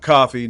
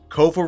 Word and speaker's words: Kofa: K O F A not coffee not not kofi or or you know what even the Starbucks my name up not kafa or any variation thereof kofa rhymes with sofa easy to say easy to spell hand down man